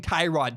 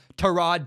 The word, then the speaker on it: Tyrod: We've been mispronouncing Tyrod Taylor, the Browns quarterback's name, for years, apparently. I've been saying Tyrod Taylor, and apparently that's totally wrong. His name is Tyrod Taylor, not Tyrod Taylor. So that's that. I wanted to kind of, from here on out, I will say Tyrod Taylor. I will no longer say the other pronunciation.